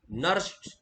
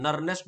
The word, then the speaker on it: Nernst: का इस्तेमाल करोगे, NERNST, नर्स्ट, okay, नर्स्ट equation. Are silent रखते हैं, नहीं भी रखोगे तो पढ़ दो पूरा, क्या दिक्कत है, नर्नेस्ट बोल दो।